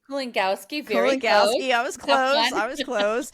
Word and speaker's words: Kulongowski: I am joined by Kulunowski. Did I pronounce it right? Kulongowski, very close.